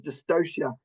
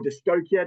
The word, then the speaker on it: dystocia: a difficult birth is dystocia or or disia depending on how you want to pronounce it I actually don't care